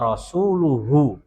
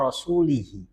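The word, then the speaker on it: وَرَسُولُهُ: Itu kalimat yang benar. Lah si imam ini ya si orang ini ketika sholat dia bacanya begini. Innallaha bariun minal musyrikina wa rasulihi. Wa rasulihi. Kalau dibaca wa rasulihi jadi atofnya kepada musyrikin, kan majrur.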